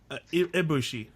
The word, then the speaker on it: Ibushi: Ibushi.